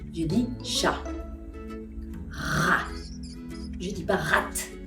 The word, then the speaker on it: chat: Porque el francés está lleno de excepciones, las finales, las letras finales de una palabra no se pronuncian en francés la mayoría del tiempo. Exemple, chat. Je dis pas chat, je dis chat.